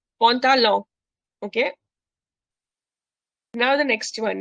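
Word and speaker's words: pantalon: No, मैं जो last n है वो नहीं pronounce करो. I'm making it nasal. Pontalon.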